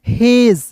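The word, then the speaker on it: hedge: एच ई डी जी ई तो क्या पढ़ेंगे दोस्तों, हेज, क्या पढ़ेंगे, हेज पढ़ेंगे।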